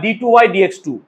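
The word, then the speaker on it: d²y/dx²: d2y বাই dx2 বা d2y dx2। d square বললেই সেই জায়গায় ভুল, প্রোনাউন্সিয়েশন এরকম হবে d2y dx2।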